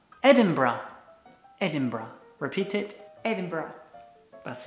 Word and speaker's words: Edinburgh: The correct pronunciation is Edinburgh. Edinburgh.